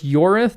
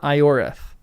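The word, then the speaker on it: Ioreth: So, anytime I see an I at the beginning, it's like a Y before a vowel. Oh, before a vowel. So, Yorith. So, it's Yorith, not Iorth.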